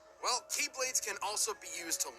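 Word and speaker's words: χ-blade: It's just pronounced like Keyblade, even though it's just one Keyblade.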